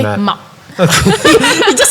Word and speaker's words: MAAP: But as per Robin pronounced it as Maap. So we just say Maap.